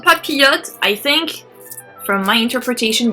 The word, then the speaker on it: papillote: These are called Papillon. The I and LL, it's Y. It's the Y sound. So Papillon. And you don't pronounce the S, or it's not papillotes, it's papillon.